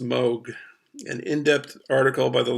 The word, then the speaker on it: Moog: I thought it was Moog, but I was on YouTube and I found out I think it's pronounced Moog.